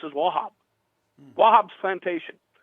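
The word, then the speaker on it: Wauchope: really weird it's spelled w-a-u-c-h-o-p-e but how it's pronounced as wahab wobb's plantation right so i don't know how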